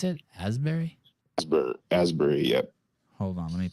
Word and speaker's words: Asbury Park: Asberry oh ashberry Asberry is that how they pronounce it Asberry asry Asbury yep hold on let me pull up this